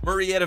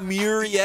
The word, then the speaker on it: Murrieta: No, it's Murrieta Valley, and it's data. It's not Mur. It is too. It's not Murrieta. It is too. It's Murrieta. Murrieta. It's not Murrieta. Pronounced M-U-R-R. Murrieta. Murrieta.